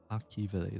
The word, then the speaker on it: Akivili: Akivili, that's how you pronounce it.